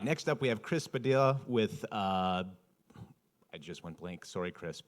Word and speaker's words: Padilla: Uh Padilla like tortilla. So if you guys have a hard time seeing my name and how to spell it, it's Padilla like tortilla.